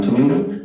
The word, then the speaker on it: tomato: The avocado tomato. The what? Aocado. Avocado. You can say tomato. That's American pronunciation.